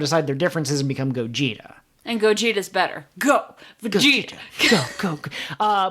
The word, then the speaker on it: Gogeta: alone and also but gogeta kind of sounds like goat and cheetah so not only is